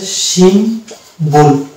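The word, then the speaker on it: symbol: Umbrella এরকম শব্দ যেমন হচ্ছে আরো আছে সিম্বল, এই শব্দটা দেখেন শব্দের মধ্যে এমবি আছে কিন্তু দুটি উচ্চারণ আছে, সিম্বল, সিম ম উচ্চারণ আছে আবার ব উচ্চারণ আছে, সিম্বল।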